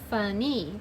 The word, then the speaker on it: funny: Funny. Remember in a two-syllable word, Y says E.